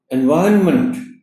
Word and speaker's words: environment: Environment, इसमें एक तो वी पर स्ट्रेस है ऑनरेबल टीचर, और दूसरा जो एन है मंथ से पहले उसकी हल्की आवाज आएगी, एनवायरनमेंट।